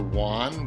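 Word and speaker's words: yuan: China where they use the WAN which is spelled with a y not a J from China we get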